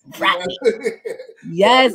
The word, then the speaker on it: Rodney: I love being with Black people because Black people pronounce that T in Rodney. You know, that's like Rodney. You know, that's how I know where I'm at when I hear that T in Rodney. Rodney. Yes, brother.